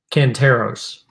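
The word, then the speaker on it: Cantaros: his name was uh emery emery cantos uh canteros that's how you pronounce that but yeah um it has them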